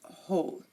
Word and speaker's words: whole: look at them now if a word starts with wh the W is silent for example who whoever and whole again who whoever whole you are not hearing the W in any of these pronunciations and we also have some